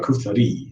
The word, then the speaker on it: charcuterie: you say, is it charcuterie or shark? How do you say it? Charcuterie. That's how you say it in French, right?